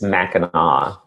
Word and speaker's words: Mackinac: It's Mackinac.